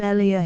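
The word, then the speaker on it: Elia: an Italian named ellia the name has probably never been pronounced as lamb intended call him IIA he said in a letter to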